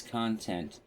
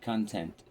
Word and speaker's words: content: It's pronounced as though con like pros and cons. It's content, not content.